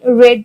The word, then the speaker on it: read: জন্য আমি বলবো আই রেড দ্য বুক। যেহেতু রিডের তিনটা ফর্মই রিড, রেড, রেড, and the spelling is same, সুতরাং আমি কি বলবো I read that, only the pronunciation is different, শুধুমাত্র উচ্চারণটাই আলাদা এখানে,